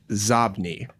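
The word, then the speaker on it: Xobni: This next one is an add-on email analytics service, and they are called Zobni.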